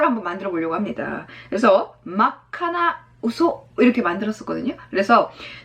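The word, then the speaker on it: 真っ赤: 자 그래서 새빨간, 빨간이 악한데 새빨간은 마카 이렇게 가셔야 돼요. 맛 아카가 아닙니다. 마카 이걸 기억하셔야 돼요. 마다카 이렇게 발음하기도 힘들어. 그러니까 마카 갑니다.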